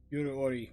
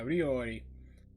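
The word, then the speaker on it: 料理: Ori. Yeah, Ryori.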